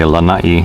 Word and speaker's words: Lanai: flying over a channel I should actually say Allah ie that's the proper way to say it so I'm going to